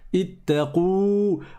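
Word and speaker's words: اتقوا: On a la dernière lettre qui est le waw. C'est la vraie lettre qui se prononce à la fin. Ittaqou. On prolonge. Et là, c'est un soukoun en réalité dessus. Parce que c'est une prolongation. Ittaqou. On prolonge le waw.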